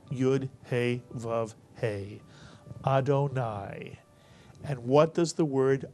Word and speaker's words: Adonai: Kamatz and a yud at the end of a word is pronounced I, and therefore this word is pronounced in its entirety, Adonai.